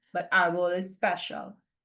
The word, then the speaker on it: árbol: And if it ended in an L, like árbol ends in an L, normally the stress would fall on the last syllable. So it would be árbol. But árbol is special, right? Accent is on the first syllable.